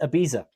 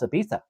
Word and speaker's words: Ibiza: I've always for years pronounced it Ibiza, like the improper pronunciation of it, and I think I think I've even heard Armin say Ibiza.